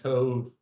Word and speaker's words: Cobh: But if you look up cathedral and Cove, Cove is spelled Cobh, you'll see it in.